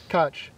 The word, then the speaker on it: Koch: Dig Drive DIY, and Kof is K-O-C-H. Don't worry your grammar teacher trying to teach you how to spell that. Just give up on that. It's the German phonetic pronunciation of it, I think. Kutch.